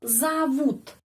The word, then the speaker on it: зовут: Тебя зовут. Penekanannya pada huruf U. Karena itu O dibaca A.